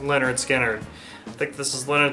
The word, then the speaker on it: Lynyrd Skynyrd: top 15 Raquel Volta this copy of leonard skinner pronounced leonard skinner i think this is